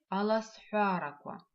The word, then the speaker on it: аласфяраква: Скороговорки на абазинском языке аласфяраква. Аласфяраква. В слове аласфяраква мы видим два интересных звука. Звук х, который пишется как х, палочка в, и звук к, который пишется как к, в.